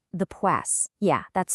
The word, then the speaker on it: Psoas: It's called the Pass. Yeah, that's spelled P S O A S.